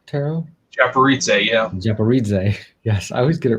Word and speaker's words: Japaridze: let me make sure i'm saying it right japorita tarot japaritze yeah japaridze yes i always get it wrong so not